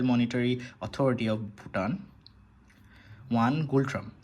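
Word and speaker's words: Ngultrum: authority of Bhutan one gold ট্রাম্প এন কিন্তু silent থাকে এখানে যাই হোক সো নেক্সট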